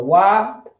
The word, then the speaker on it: wa'ad: So the wa'ad is how you say it.